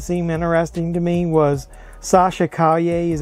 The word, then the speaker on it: Sasha Calle: other character that seemed interesting to me was sasha caglia is how you pronounce her name has been cast as super